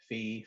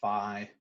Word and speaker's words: phi: is um i guess i've heard it two different ways fee phi maybe faux fun but